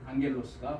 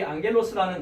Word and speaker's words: ἄγγελος: 사자로 앙겔로스가 번역이 되어 있습니다.